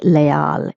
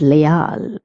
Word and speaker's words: leal: The word leal some people pronounce is le because they're doing the English pronunciation but it is not le it is leal. Okay. Because the e is pronounced as a and a is pronounced as a. Hence the pronunciation of this word will be leal.